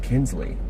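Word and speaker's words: Kuenzli: Pronounced Kinsley.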